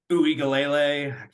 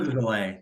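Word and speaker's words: Uiagalelei: combination of Uigalele, I can never say his name, Bailey. and Shipley. I think they'll get it done. I think 14 plus, honestly. Um, next game, big last game, Big Ten. Uiagalele.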